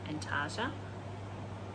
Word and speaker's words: Antarctica: tea but i'm kind of doing anta and antarctica that's how you pronounce it but anyway so this is using